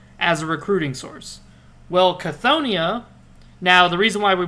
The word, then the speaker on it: Chthonia: So, since they're like that, they wouldn't pronounce a C with a soft C like Scythonia. No, they're very direct and very hardy people. So how do they pronounce that? Chthoniya, like Cthulhu.